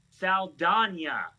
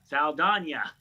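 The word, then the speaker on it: Saldaña: And now it has been completely flipped that literally her last name is pronounced Saldana. Yeah, you know, rhymes with lasagna, Saldana.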